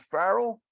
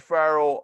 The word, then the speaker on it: Farrell: last name is it Farrell is that right yeah Farrell like uh Farrell's Ice Cream right Carl's okay all right thank you so much so we're here with Steve Farrell uh co-founder of humanities